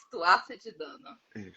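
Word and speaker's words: Tuatha de Danann: Como todo mundo Como pronuncia? todo mundo, Tuaça de Dana.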